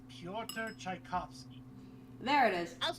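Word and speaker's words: Pyotr Tchaikovsky: now i know how to say it it's piotr tchaikovsky there it is i was close i was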